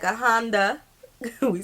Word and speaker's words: Honda: International circuits in Japan I hear some of the English speakers pronounce it Honda Japanese speakers pronounce them Honda comes from their